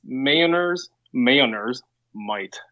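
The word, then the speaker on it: Mjolnir's Might: It's Mailner's might.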